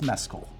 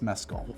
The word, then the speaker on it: Mescal: It's not the liquor, it's not anything else, it's Mescal.